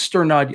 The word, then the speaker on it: Sternad: I think it's Sternad. I think you were right in your pronunciation, Zach, and I was wrong with the Sternad, saying it kind of flat.